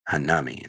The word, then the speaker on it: Hanami: Joo and H H hamy Hami Hanami Hanami Hanami that's how you say it yes Jimmy Timmy